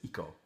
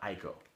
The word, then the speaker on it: Ico: And if anybody's wondering, the correct pronunciation is Ico, not Aiko.